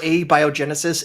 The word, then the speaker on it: abiogenesis: nicely phonetically spelled it out in the comments Abby Genesis is that how it's supposed to be said I've I've been saying a biogenesis this whole time I'm I am 99% sure a biogenesis is the best pronunciation and I allowed my tongue to not